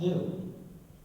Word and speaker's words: gnu: according to the dictionary, the G is silent and it's pronounced new.